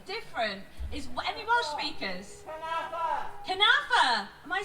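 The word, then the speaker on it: cynefin: They talked about how it can create conneffin, which is, I hope I'm pronouncing that right.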